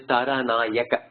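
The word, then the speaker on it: तारानायक: The word Paranayaka, I put it as ga, the way you pronounce it, without looking at it. Okay. It's the right way. No, it is Taranayaka. Ka only. Nayaka means king of the ruler.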